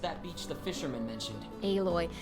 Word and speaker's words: Aloy: Alloy. If it's spelled like alloy, then it should be pronounced alloy.